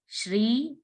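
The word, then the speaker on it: श्री: So when we saw a note on the letter S, we have to pronounce like sh, with the help of tongue.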